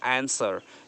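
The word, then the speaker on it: answer: आंसर, यहाँ पे W silent है, डब्लू को नहीं बोलेंगे, आंसर।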